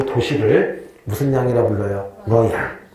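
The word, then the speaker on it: Luoyang: 러양. 이 러양을 우리가 옛날에는 낙양이라 부르기도 하고 혹은 나급이라고 부르기도 해요. 낙양 들어본 적 있죠? 낙양의 중국어 그 발음이 러양이래요.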